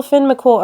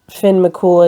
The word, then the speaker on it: Finn McCool: I'm pretty sure that's how you say it, right? It looks like Coomhale, but it's cool, right? Until Finn McCool arrives.